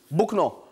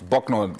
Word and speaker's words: Bucknor: Bukno on route Isheri roundabout. Currently good to go. I don't know where that is. Bukno. Buckner. It's Bucknor, Mike. Buckner. Buck, like buck.